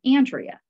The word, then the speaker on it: Andrea: just so you know, my name is Andrea. And the person said, not Andrea. I said, no, Andrea. That's how I pronounce my name.